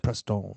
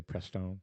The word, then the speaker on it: Preston: I said Prestone. Prestone, and it's not really Prestone. Well, I'm him, guys. I'm Preston.